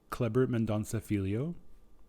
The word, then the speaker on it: Kleber Mendonça Filho: It is directed by, let me just make sure that I pronounce this correctly, Kleber Mendonça Filho. Kleber Mendonça Filho.